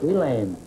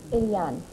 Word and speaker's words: Eliane: Elaine, is that the way you pronounce it? Eliane.